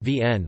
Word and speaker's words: Wien: Vienna, listen, German, Wien, pronounced Vienne, listen, is the federal capital and largest city of Austria, and one of the 9 states of Austria.